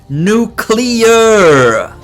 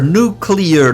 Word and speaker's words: nuclear: for someone that actually knows how to say the word nuclear clear nuclear not nuclear that you'd think that